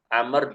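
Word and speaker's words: عمرو: eh Masyaallah percakapan antara Amr dan Ayub ya Amr ini W di depannya adalah eh wau merupakan huruf yang tertulis tapi tidak terbaca ya Amr membedakan antara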